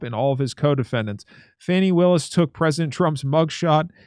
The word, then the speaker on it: Fani: Is that how you say her name, Fani? Am I saying that wrong? No, that's it. Okay. Her name is Fanny. All She right. spells it like an idiot.